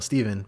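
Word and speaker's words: Stephen: And joining me, of course, the man who started it all, Steven, but it's spelled PH and E, but we call him Steve.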